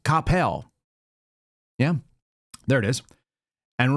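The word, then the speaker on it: Coppell: Here's Capel, which is pronounced Capel, not Cppel, as I found out when I moved there as a child in '91.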